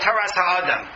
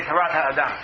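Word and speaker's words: תורת האדם: The Ramban wrote a work called Toras HaAdam, or Torat HaAdam, depending on how you want to pronounce it. The Ramban is from Spain, so I'll say Torat HaAdam.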